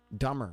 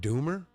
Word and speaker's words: Dummer: er dumber New Hampshire yeah it must be pronounced dumber what is it do mer no it's dumber so kudos County yes Tim Coos County dumber